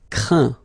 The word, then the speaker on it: craint: Craindre, craint. Contraindre, contraint. Plaindre, plaint. Okay, and as usual, final T here is not pronounced, so you get craint, contraint, plaint.